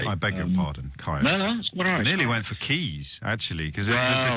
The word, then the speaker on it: Caius: beg your pardon four keys actually college is spelled the same and that would be pronounced keys wouldn't it record you